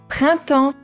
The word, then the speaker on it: printemps: つづれはとっても長いですが、これで Printemps.